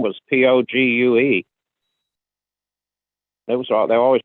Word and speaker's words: Pogue: said mad pogue now is that the correct pronunciation of it i thought it was mad podge matt pogue oh well that's there was an astronaut name his last name was p-o-g-u-e it was they always pronounced it pogue okay